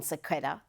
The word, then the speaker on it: sequitur: Talk about a ridiculous non sequitur. Did I pronounce that right?